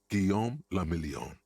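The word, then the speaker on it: Guillaume Le Million: Giam Lamelon. If it doesn't rhyme, you're not pronouncing it right.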